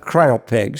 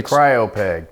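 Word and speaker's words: cryopeg: g uh if you cry pegs yeah uh I think a Copeg it's also pronounced Copeg uh so uh but it's spelled like cryo okay uh and what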